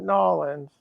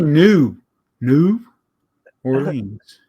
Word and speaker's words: New Orleans: not Nolans. No. From here says Nolans. People from not here say it's New Orleans. New Orleans. How do you say New Orleans?